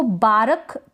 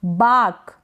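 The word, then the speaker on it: bark: ये स्पेलिंग है बाक इसको बारक करके प्रोनाउंस करेंगे बिल्कुल गलत हो जाएगा बारक नहीं बाक बाक करेंगे बारक कर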